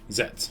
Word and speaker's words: Zetsu: It's you don't pronounce the U apparently. Oh, okay. Zets. Yeah, just Zets.